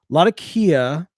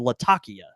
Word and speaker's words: Latakia: He's saying Latakia. Oh, yeah, and that's So our friends, a lot of friends from overseas, they and some folks in the States will pronounce it Latakia. That probably is closer to the original way of saying it.